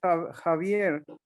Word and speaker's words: Javier: My name is Javier. it's pronounced like the A. The J is pronounced like the H because this is a Spanish name. Javier.